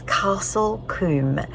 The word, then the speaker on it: Castle Combe: they say in all of England and it's Castle Kum spelled c o MBE I've listened to people